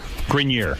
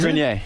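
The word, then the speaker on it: Grenier: Grinier is the right way to say it.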